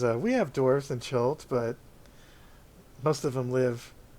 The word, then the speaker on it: Chult: Chult, yeah.